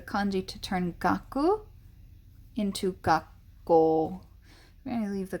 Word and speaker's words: 学校: physical school building and the magic that happens when you get a ku and ako next to one another is that the coup typically goes away or the first of the two k sounds goes away so we get gakko rather than gaku ko because gakuko is just